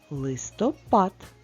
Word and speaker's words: листопад: три І ще одне слово листопад на який склад падає наголос на останній Правильно а порахуй самостійно